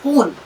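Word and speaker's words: خون: खे की आवाज सही निकालिए, खून कोई लफ्ज नहीं होता, खून।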